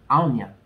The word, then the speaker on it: Aonia: Okay, so I pronounced this name wrong. This name is pronounced Aonia.